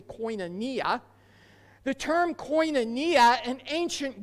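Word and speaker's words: κοινωνία: Well, the secular understanding of fellowship, which comes from the Greek word koinonia, maybe you've heard it pronounced koinonia, it's actually koinonia.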